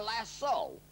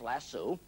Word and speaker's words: lasso: a lariat or our lasso la SS o often mispronounced lassu how can a cowboy